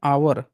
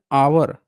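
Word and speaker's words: hour: एच को sound करते हैं आवर। एच ओ यू आर को बोलते हैं आवर। मतलब ह जो है शब्द है इंग्लिश में साइलेंट हो जाता है।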